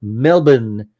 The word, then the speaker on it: Melbourne: Melbourne. Yeah. And when I was Hey, you pronounced it properly. Yeah. In 19 Yeah. There's no R sound.